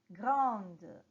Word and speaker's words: grande: provence la lettre d ce qui vous fait prononcer la lettre d à vrai dire c'est la voyelle qui vient après alors répétez pour le